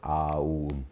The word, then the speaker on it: 옴: 그래서 이제 이걸 가지고 읽을 때 이 3개를 만들어내니까 우주의 시작, 중심, 끝에서 옴이라고 읽는 거예요. 아우음. 입이 그래요. 시작하면 아가 나와요. 아 닫으려고 하면 우가 나옵니다. 목구멍에서 나오는 거 똑같죠. 목구멍에서 나오는 거 똑같은데 현상계의 모습에 따라 3가지 소리가 나죠.